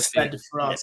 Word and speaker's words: Stade de France: Les Bleus at Stade de France. Pronunciation.